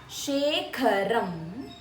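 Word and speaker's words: शेखरं: Kha needs to be stressed. Shekharam Kripakaram.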